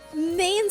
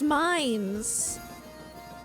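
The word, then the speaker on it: Mainz: Oh, mains is pronounced mines.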